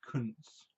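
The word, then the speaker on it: Koontz: It's pronounced Kuntz.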